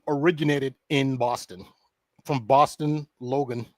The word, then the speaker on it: Logan: From Boston Logan, which rhymes with Hogan International?